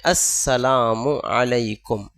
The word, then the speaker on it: السلام علیکم: اس لیے ہمیں اہتمام کر کے یہ سیکھنا چاہیے، ہماری ذمہ داری ہے۔ صحیح تلفظ ہے السلام علیکم، ورنہ پھر مطلب کہیں کا کہیں چلا جاتا